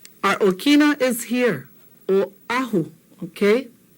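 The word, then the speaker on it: Oʻahu: Oahu. We come from Oahu. Our Okina is here. Oahu, okay?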